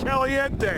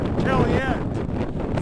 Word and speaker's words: Caliente: ralph say it's a pronounced like the spanish caliente and i've read that the natives pronounce it kellyanne so i'm gonna find